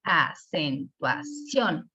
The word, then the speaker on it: acentuación: Y lo mismo en acentuación, acentuación. Si se fijan, o sea, nosotros mismos detectamos que la sílaba tónica en acentuación está en la última, pero que nos dice,